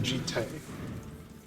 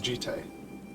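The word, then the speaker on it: Jitte: The Jite. I've been calling it, like, Jeet for, like, 20 years. Since, you know, Champions of Kamigawa. And it turns out the correct pronunciation is Jite.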